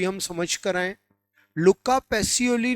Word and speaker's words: लुका पैसियोली: हाँ, बिल्कुल सही बोला है, लुका पैसियोली, ठीक है ना। कई जगह उसका प्रोनाउंसिएशन लुकास पैसियोली है, एग्जैक्टली लुका पैसियोली है, ठीक है ना।